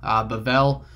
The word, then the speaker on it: Babel: Babel is kind of the Hebrew pronunciation.